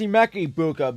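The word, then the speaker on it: Emeka Egbuka: It's Emeka Ibuka, but for me, I would much rather get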